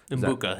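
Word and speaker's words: Egbuka: Umbbuka. Umbbuka. It's like kombucha, but okay, I'll remember that.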